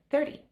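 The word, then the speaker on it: thirty: say the the word 30. So 30 is a challenging one but now you know the trick. Don't say the t say it like a d.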